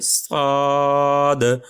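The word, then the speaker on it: ص: তো সেক্ষেত্রে আমরা উচ্চারণের ক্ষেত্রে যদি বলি তাহলে একটু টেনে বলতে হবে সদ সদ। আমরা যদি একটু ইংলিশে উচ্চারণ করি SOOD শুড হয়ে যায় বা শোড হয়ে যায়।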